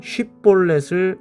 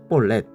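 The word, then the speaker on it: 쉽볼렛: 쉬바음이 안 나고 시발음이 납니다. 그래 가지고 쉬볼렛을 발음하지 못하고 볼넷 이렇게 발음합니다.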